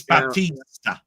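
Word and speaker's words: Bautista: It's Batista.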